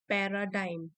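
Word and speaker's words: paradigm: द पैराडाइम shift, इसकी pronunciation है पैराडाइम, पैराडाइम shift.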